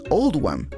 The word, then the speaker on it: Oldham: Esta elección se hizo para reflejar la pronunciación de Oldham en el acento local, que es Oldham.